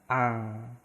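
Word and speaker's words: 앙: Nah, iyeng ini kalau posisi di awal itu tidak ada bunyi. Ya, tapi kalau posisinya di akhir itu diucapkan atau bunyinya eng. Coba kita praktekkan. Nah, di sini ada iyang kan sama iyang itu enggak ada bunyinya. Ada vokal A, berarti cuma yang dibaca itu A. Nah, terus ada konsonan akhir ing, berarti ini dibacanya ang. Coba kita cari yang lain.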